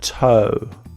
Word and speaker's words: toe: Show, poem and toe. So poem and toe, OE. In poem, we say the E, po-oe, and with toe, we just say O.